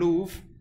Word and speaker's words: love: Now, bear in mind, the actual pronunciation of these words will be different. It might be more like prove and louve. In Shakespearean time, so that would be a closer rhyme.